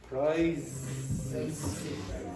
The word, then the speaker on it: prizes: So when you're pronouncing this word, it's prizes.